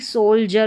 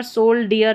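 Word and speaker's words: soldier: जैसे कि सोल जर में पढ़ रहे हैं। सोल और ज डी आई दे रखा है। इसको ज पढ़ा जा रहा है। इ आर को अर। तो यहां पर सोल डियर नहीं पढ़ते हैं। सोल्जर तो यहां पर याद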